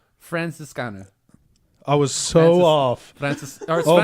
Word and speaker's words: Franziskaner: This one, Ethan, go ahead and pronounce the name. Franziskaner. Right? Weissbier. Franziskaner.